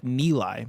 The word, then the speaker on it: Nilay: Nilay Patel's first name is pronounced like Nilay, by the way.